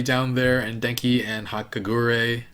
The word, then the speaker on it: Hagakure: I totally expected him to be super stupid, but Aoyama is pretty down there, and Denki and Hagakure. How do you pronounce her name?